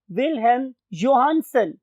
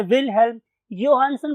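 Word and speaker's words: Wilhelm Johannsen: और विल हैम जोहानसन मैं फिर बोल रहा हूं कि जो प्रोनंसिएशन है वो डिपेंड करती है वेरी करती है एरिया टू एरिया तो बहुत से लोग इसे विल्हेम जोहानसन प्रोनाउंस करते हैं और बहुत से लोग इसे विल्हेम योहानन प्रोनाउंस करते हैं दोनों ठीक है इन्होंने 190 नाइन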